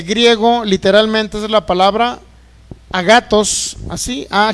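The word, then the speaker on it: ἀγαθός: obras en el griego literalmente es la palabra a gatos así a g a t h o s a gatos Por lo menos así se pronuncia o también se puede decir agatón es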